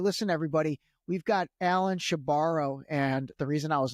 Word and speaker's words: Shebaro: And he said, yeah, she borrows the money and she never gives it back.